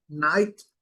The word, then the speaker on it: night: aqui em cinza, mas esse GH é mudo, é silencioso. E sempre quando nós temos um I antes do GH, a pronúncia dele também vai ser I, certo? Time, night, fine.